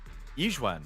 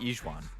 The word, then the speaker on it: Yixuan: Yixuan, not Yixuan. Yixuan. The Y is silent.